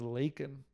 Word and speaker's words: Lakin: She's like, it rhymes with bacon. And I'm like, that's even weirder, I don't even know. So her name was her name was Lakin.